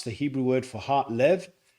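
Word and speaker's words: לב: The Hebrew word for heart lev. It's spelled with a lame and a bait.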